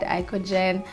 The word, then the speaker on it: IKOJN: So IKOJN is basically just flip it around, you get IKOJN, and then the J is silent.